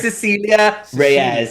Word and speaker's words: Cecilia Reyes: You're not even trying to pronounce that. No. It's Cecilia Reyes.